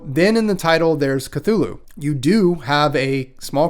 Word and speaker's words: Cthulhu: So then in the title, there's Cthulhu. You do have a small contingent of Lovecraft nerds online who say it's not pronounced Cthulhu, but rather more like a cat coughing up a hairball, but I'm not going to do that here.